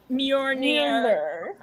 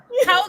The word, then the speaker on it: Mjolnir: it Mjolnir? Yeah, it's an M and a J. Yeah, it's an eminent. It's Yeah. like Mjolnir. Mjolnir.